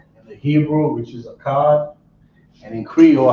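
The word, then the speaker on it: אחד: So how you say one in the Hebrew is a cod. This will be English. On this side here, we're gonna do Creole. All right. So we got number 1 in the Hebrew, which is a cod, and in Creole, how you say one in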